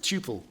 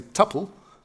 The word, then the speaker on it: tuple: a tuple of scalars I pronounce it tuple because I'm a native English speaker if you hear people say tupple they're wrong if it would have two peas and it would rhyme with supple it's not it's tuple